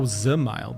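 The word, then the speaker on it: Dzemael: Oh, Zemile. The D is silent.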